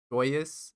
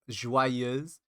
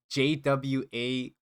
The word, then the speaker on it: Joyeuse: So okay, so the name of this weapon is not joyous. It's like in French they pronounce it as joyeuse. So it's kind of like JWAYUHZ.